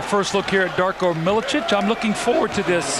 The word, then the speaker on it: Milicic: And it is pronounced Milicic. They go inside with Sharif Abdur-Rahim. No, you were right. But we've heard a lot of Milicic from a lot of people.